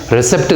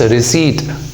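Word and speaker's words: receipt: ये पी को नहीं पढ़ा जाता, it's silent again. There is no symbol, कोई यहाँ पर डिनोशन नहीं दिया गया है पी के बारे में। इट्स रिसीट।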